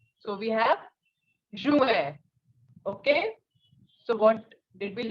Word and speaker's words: juin: June in French is Juin. Listen again. Juin. J is je in French and I-N is an. So we have Juin.